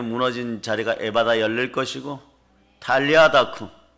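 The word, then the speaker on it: 달리다굼: 자리가 에바다 열릴 것이고 달리아 다구 원래 발음은 탈리아 다 꿈이죠 달리 다고 4 부활의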